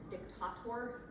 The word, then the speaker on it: dictator: just for nerd's sake the uh Latin pronunciation of that would have been dictator anyway and is he